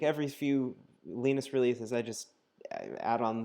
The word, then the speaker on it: Linus: the guy who created Linux his name is pronounced leanness not Linus I learned this the other day from from